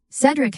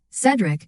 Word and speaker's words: Cedric: This same episode is where Sophia actually pronounces his name right, Cedric, instead of Cedric.